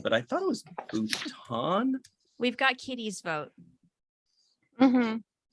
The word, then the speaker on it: Bhutan: We totally looked up how to pronounce Bhutan, but I thought it was Bhutan. We've got Kitty's vote. Mhm. Yeah, it's Bhutan.